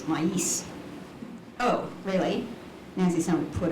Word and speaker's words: maíz: Helen said, the Spanish word isn't pronounced with a long A, Nancy. It has 2 syllables, maíz.